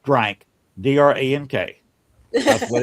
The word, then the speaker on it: drank: The drink it's pronounced drank, D-R-A-N-K.